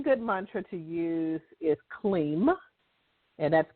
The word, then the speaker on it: Kleem: One good mantra to use is Kleem, and that's K-L-E-E-M.